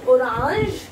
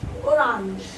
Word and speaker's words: orange: r a n g the same spelling of english orange but the pronunciation is different in french the same and feminine orange the pronunciation orange orange okay you can pause